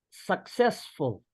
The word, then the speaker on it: successful: So it's almost like we're saying the word suck.